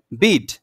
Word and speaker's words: bead: দেখেন বানান কিন্তু এক, DEAD, আবার এখানে কি আছে? BEAD। তাহলে এটা যদি ডেড হয় তাহলে এটা কি? বেড হওয়ার কথা ছিল, বাট এটা হয় নাই, এটা কি হয়ে গেছে?